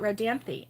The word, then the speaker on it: Rodanthe: we have um okay road dance e that's what i thought rodanthy okay with the e on the end yeah that's how i've